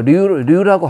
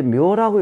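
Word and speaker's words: 劉: 이 자축인묘 할 때 묘라고 읽는 사람들이 많지 않습니까? 근데 이때는 묘가 아니고 류입니다. 요 발음이 류예요.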